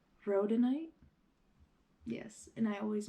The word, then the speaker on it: rhodonite: get almost like fixed up but it is pronounced rhodonite yes and I always mispronounce it but it's